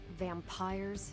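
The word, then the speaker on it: vampyres: said they were vampires vampires with a Y pronounced exactly the same as vampires I suppose that was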